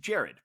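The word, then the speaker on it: Gerard: de pardue and mr butler yes but it's pronounced jared so i was talking to jared he i said oh this is have coconut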